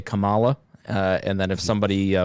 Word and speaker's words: Kamala: on this episode but the The Pick of Kamala is it Kamala C camela I've heard camela but I thought it I